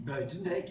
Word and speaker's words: Buitendijk: Pour le dire avec les mots, alors, excusez, bon, je vais certainement mal prononcer le mot de Buitendijk, c'est comme ça qu'on dit? Buitendijk, ja.